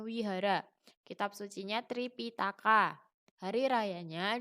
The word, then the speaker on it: Vihara: ibadahnya namanya Vihara tapi biar tulisannya itu aslinya Vihara Tapi bacanya Wihara kitab sucinya Tripitaka hari